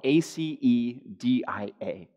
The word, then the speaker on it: acedia: It's spelled, if you're wondering, it's spelled A-C-E-D-I-A.